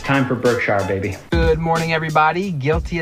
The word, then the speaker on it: Berkshire: Major correction, I said Berkshire in the last story. It's not Berkshire. It's spelled Berkshire. It's not how it's said. It's not how Warren says it. It's not how we said.